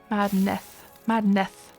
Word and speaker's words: Madnath: So you always pronounce Madnath like madness with a lisp. Madnath. Madneth, sort of.